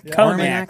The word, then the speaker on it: Armagnac: Armagnac. Yeah, it's like Cognac. Armagnac.